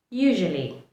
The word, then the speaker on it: usually: my today's video is usually. Usually. U-S-U-A-L-L-Y. Usually also means most of the time or frequently. The correct way to pronounce it is usually. Usually. The S is pronounced more like a Z.